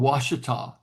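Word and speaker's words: Ouachita: Australians, it's called Washita.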